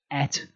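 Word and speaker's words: את: It's pronounced et, and it points to the object of the sentence.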